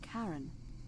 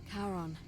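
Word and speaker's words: Charon: is a little off the name you heard wasn't Karen it was c h a r o n the Fairman of the Dead Kon who in exchange for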